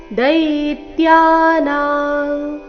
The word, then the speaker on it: ದೈತ್ಯಾನಾಂ: ಅದರ ನಂತರ ಲ ಪ್ರಹ್ಲಾದಶ್ಚಾಸ್ಮಿ ದೈತ್ಯಾನ ದೈ ದೀರ್ಘ ಬಂದು ನಂತರ ಆಘಾತ ಅನುಸ್ವಾರದ ಉಚ್ಚಾರಣೆ ಕ ವರ್ಗದ ಅನುನಾಸಿಕದ ರೀತಿ ದೈತ್ಯಾನ ಶಬ್ದದ ಕೊನೆಗೆ ಅನುಸ್ವಾರ ಇದೆ ದೈತ್ಯಾನಂ ಕಾಲ ಕಲಯತಾ ತುಂಬಾ ಸರಳವಾದ